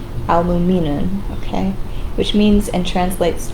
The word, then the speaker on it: Al-Mu'minun: This is the hardest to pronounce for me. Al-Mu'minun. Al-Mu'minun, okay?